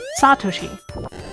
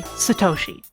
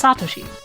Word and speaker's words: Satoshi: you in general in Japanese there tends to be very strong emphasis on the first and sometimes second syllables but for a lot